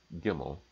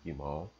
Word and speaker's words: gimel: Hebrew letter, which is gimel. Is the way I pronounce it, or gimal.